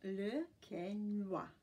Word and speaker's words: Le Quesnoy: Its name is pronounced Le Quesnoy.